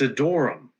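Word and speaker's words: Adoram: It's Adorum. Ad a D O R A M, but it's spelled differently three times.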